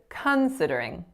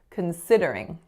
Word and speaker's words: considering: said considering considering so here I'm stressing the first syllable but I should be stressing the second syllable considering so that first syllable as you can hear is a and so it's being reduced to schwa considering the other word that